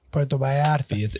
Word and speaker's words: Puerto Vallarta: The V is a B in Spanish. I need help, yeah. Puerto Vallarta. And the L's are silent. And the J is silent. It depends what like Spanish you're speaking too.